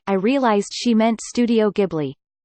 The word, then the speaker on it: Ghibli: I realized she meant Studio Ghibli. I tried saying that, but she insists it's pronounced Gilly Bee.